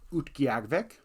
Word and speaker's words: Utqiagvik: And then Barrow, or more accurately pronounced now, Utqiagvik.